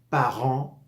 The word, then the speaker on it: parents: es parent mes chers parents je par Je par s final no se pronunciar y tendemos a pronunciarlo y